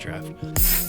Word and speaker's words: draught: Actually, it's pronounced draft.